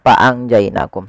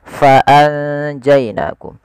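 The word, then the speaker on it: فأنجيناكم: Tapi sebelum itu ada huruf fa, harus dibaca dengan fa, pakai f, jangan pakai p, jangan fa'anjainakum, tapi fa'anjainakum. Nah, cara membaca ikhfa ini di antara bacaan izhar dan idgham.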